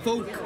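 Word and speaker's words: phoque: Folk. Yeah. Folk.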